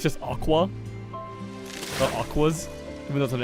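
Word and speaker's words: Aqours: when I learned that you don't pronounce the S.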